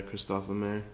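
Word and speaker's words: Christophe Lemaire: done by Christopher lemair is that how you pronounce his name yeah Kristoff L mer um it debuts their uh spring summer 2019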